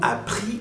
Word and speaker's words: appris: Nous avons appris que tu es malade. Nous avons appris que tu es malade. El verbo aquí es apprendre. Y miren, termina en IS, no se pronuncia la S.